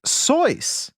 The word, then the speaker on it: Seuss: Seuss was his mother's maiden name, as well as his own middle name, but it was apparently pronounced Seuss, as in rhymes with voice.